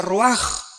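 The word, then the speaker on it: רוח: Aquí se usa otra palabra hebrea que es se escribe roach con R de Raúl A. Se pronuncia roaj.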